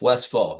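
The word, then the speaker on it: Westphal: The PH is an F, Westfall.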